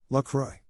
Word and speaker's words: La Croix: I refuse to pronounce La Croix the way the company thinks it's pronounced, however. La Croix all the way tabernacle. Wait, how are they pronouncing it? I've been using the French pronunciation.